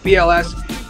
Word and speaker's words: WBLS: like Kiss FM and WBLS, nobody from New York pronounces the W, by the way, just a little tip in case you ever mentioned like, you know, old school heads like BLS, you would have Mr.